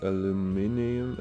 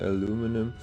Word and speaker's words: aluminium: type but it might just be aluminium aluminum whichever pronunciation you prefer um yeah this looks